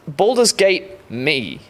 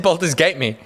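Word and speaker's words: Baldur's Gate Me: should say, more accurately, it's Baldurs Gate Me. What did I say? Baldurs Gate. I said Baldurs Gate Me. Yeah. Like, fuck me.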